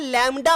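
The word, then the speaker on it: lambda: ऐसे लैम्बडा, ये बी है लेकिन बी साइलेंट होता है, लैम्बडा पढ़ते हैं, इसलिए मैंने लिखा तो लैम्बडा है पर लैम्बडा ही बोलोगे, बा को आप हटा के चलोगे।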